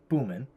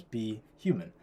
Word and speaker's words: BHuman: So for example, be human, normally you pronounce it, if you just read it phonetically, boomin, right? But we want to pronounce it as be human.